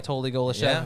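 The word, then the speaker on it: Anatoly Golyshev: Anatoly Golishev, if I say his name correctly.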